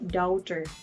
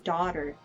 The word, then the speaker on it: daughter: Kaya, namamali sila dyan ng pronounce, sabi nila doubter, parang gano'n. So, correct natin sila, it should be daughter.